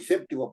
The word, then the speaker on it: séptimo: llevar acento en d séptimo es una palabra esdrújula y tiene que llevar su acento en SEP en la sílaba SEP que es la anterior